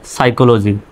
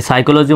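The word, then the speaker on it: psycho: college ভার্সিটিতে পড়ানো হয় সাইকোলজি এই সাইকোলজি মানে হলো মনোবিজ্ঞান আত্মা সম্পর্কিত মানুষের মন সম্পর্কিত বিজ্ঞান এই শব্দটা দেখেন এখানেও কিন্তু এই শব্দের প্রথমে পিএস আছে সুতরাং পির উচ্চারণ সাইলেন্ট এস আর রা সরা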